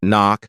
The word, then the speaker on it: knock: Another tricky one is the silent K in words like knock, know, and knife. You can't hear the K, but it's still there in the spelling.